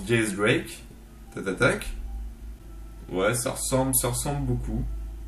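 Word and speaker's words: X Drake: D'ailleurs, X-Drake, ça se prononce Diaz Drake.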